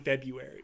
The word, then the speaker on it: February: double feature in February I'm shocked you pronounce the r in February I I sometimes I don't I like to keep my enemies on there it's a it's a West Coast thing wow yeah he would